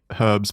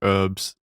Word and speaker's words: herbs: You say it like herbs. Yeah, it's herbs. Why do you say it like that? Is that an American thing? It's an American thing. Yeah, but it's actually how it's pronounced, to be fair.